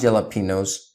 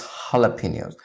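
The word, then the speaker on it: jalapeños: say that they're not jalopy knows they're not jalopy knows its jalapenos the J is silent and it's pronounced as an H huh jalapenos hello it's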